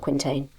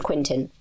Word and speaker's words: quintain: Squires practice their aim with a lance using a device called a I think this is quintin. It's pronounced not quintain. Called a quintin.